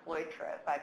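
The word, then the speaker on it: Cloitre: I think is quite good so this researcher cloy travaille pronounced correctly has done some really good research that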